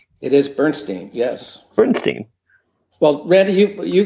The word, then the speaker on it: Bernstein: Bernstein, or Bernstein, I don't know how to pronounce her last name. It is Bernstein, yes.